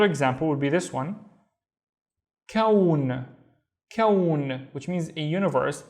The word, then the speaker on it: كون: Again, think of لون and think of the other word we have seen, which was ثوب. So ثوب and لون, and كون, which is a universe, كون.